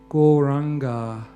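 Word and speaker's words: Gauranga: Goranga has 4 syllables. Go, ra, anga.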